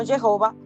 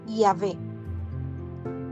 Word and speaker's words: Yahvé: siglos y jud Bad muchos los traducen como jehova pero la pronunciación más acertada más cercana a lo que el nombre que son consonantes es es yahvé ese es el nombre